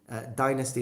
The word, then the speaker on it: dynasty: and by the way a lot of people tell me I say Dynasty wrong because I should say dynasty dynasty is the American pronunciation and dynasty is the British pronunciation I like both there's nothing wrong with with either of them so it's just a way it's like saying vitamin and vitamins it's just two different accents Italy is they're both